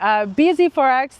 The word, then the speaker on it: bZ4X: That's the BZ4X, the Toyota BZ4X, which some people, including Alex, maybe he started it for all we know, pronounce as busy forks.